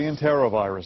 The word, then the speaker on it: enterovirus: Enterovirus is how we typically pronounce it, but certainly enterovirus we've heard.